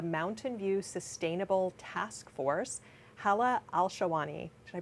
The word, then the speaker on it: Hala Alshahwany: With me today is a member of the Compostable Alternatives team and former member of the Mountain View Sustainable Task Force, Hala Alshahwany. Did I pronounce that right?